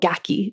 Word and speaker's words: gaki: more this week um in Japanese it's called gaki g a ki and it's the idea of